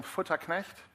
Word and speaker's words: Futterknecht: Is there anyone here that can pull off saying Futterknecht? That's how you'd pronounce that in my native German, 3 times fast without spitting or stuttering.